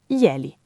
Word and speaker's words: glieli: Ma se la leggete sillabando, glie, li, Vedete che è semplicemente gli più li fusi insieme.